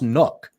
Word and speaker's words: Nuk: I think it's pronounced Nook. Yeah, it's Nook, like the binky Nook.